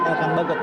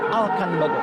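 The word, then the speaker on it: Elkan Baggott: Tadi kalau di announcer tuh terdengar kalimatnya, sebutannya bukan Elkan Bagot, Alkan Bagot. Alkan Alkan Bagot. Bagot. Itu pronunciation-nya di sana. Dari sana ya.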